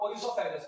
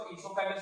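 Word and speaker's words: oesophagus: उसके बाद भैया तुम्हारा नंबर आता है किसका, ओइसोफेगस का। किसका आता है, ओइसोफेगस। कुछ इसको इसोफेगस भी बोलते हैं, जो आपको समझ में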